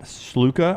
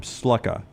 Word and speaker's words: Sluka: we talked about Matt Sluka, or are you calling him Sluka? I don't know how to pronounce it. It's Sluka. I'm going to go Sluka.